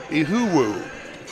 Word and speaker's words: Iheukwu: And the tough name for me is Caleb, Iheukwu. Ihuwu. That's how he pronounces his name.